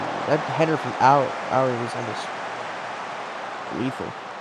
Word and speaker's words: Aoi: I I I went with Aoi cuz that's the Japanese pronunciation, but I'm and I've never been corrected on it. So, if it is wrong, I am unaware.